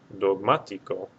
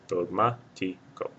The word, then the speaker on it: Dogmático: Dogmático will have a written accent mark over this A because it's the third or more syllable back. Dogmático.